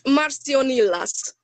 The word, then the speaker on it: Marcionilas: shop name you mentioned that how do you pronounce it i'm so sorry it's marcio nilas and marcio nila is actually one of my